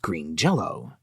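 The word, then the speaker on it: Green Jellÿ: madman behind the band makes it so it's pronounced Green Jello now the name of this particular madman is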